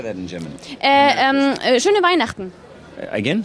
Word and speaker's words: Schöne Weihnachten: Schöne Weihnachten. Again? Schöne? Weihnachten.